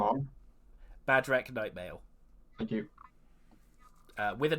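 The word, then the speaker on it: Bhadrek: Badrek Nightmail. Thank you. With an H, B-H-A-D. I try to pronounce it with an H, but it's very difficult to do.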